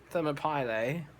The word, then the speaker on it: Thermopylae: Thermopylae. Now, I deliberately mispronounced it because it's actually Thermopylae, like the city in Greece.